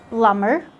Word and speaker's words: plumber: The B is going to be silent after an M in words like climber, plumber. In these words, the B is still silent.